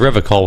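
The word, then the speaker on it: Revachol: to stay strong for River coal he is kaze shifts to the soggy pile of logs at his feet he pronounces a river call with a hard K unlike other people serious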